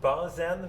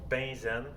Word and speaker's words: benzène: Je sais que ça s'écrit benzène, mais ça se prononce benzène.